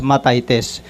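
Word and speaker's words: μαθητής: Ma matites matites o mt h e t e s sa gre at ah pino-pronounce ito as matitis na ang ibig sabihin sa English is a learner or a pupil.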